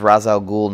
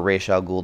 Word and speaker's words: Ra's al Ghul: been bad Batman versus Ra's al Ghul number one or Rochelle ghoul depending on who you hear pronounce it it's Neal Adams it's